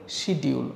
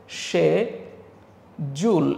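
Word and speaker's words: schedule: আমরা বলি শিডিউল অথবা অনেকে শিডিউল বলে। সো এই উচ্চারণগুলো কি আমরা আসলে ঠিক করে করি কিনা সেটা কিন্তু ভাবার বিষয়।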